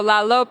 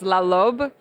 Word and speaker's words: La Loup: So La Loup is how you say the name of the tree in South Sudan. In Arabic, it's La Lobe, but in South Sudan they say La Loup.